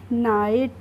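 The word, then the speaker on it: knight: नहीं पढ़ेंगे इसको क्या पढ़ेंगे इसको हम पढ़ेंगे नाइट एन आई जीएसटी को क्या पढ़ते हैं हम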